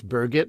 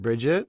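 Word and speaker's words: Birgit: mispronounced your colleague's name it's burgit not Bridget i s my brain saw what it wanted to see from years of seeing Bridget's Burger umigba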